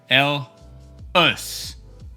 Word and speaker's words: Helles: So, HELLES lagers from the south part of Germany, more precisely Munich, pronounced HELLES. HELLES. That's the proper way to pronounce the style, but mainly why and